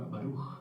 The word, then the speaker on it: baruj: la interpretación puede ser la primer sílaba fuerte y la segunda sílaba suave. Por ejemplo, con la palabra baruj bendito. Sí, la primera fuerte.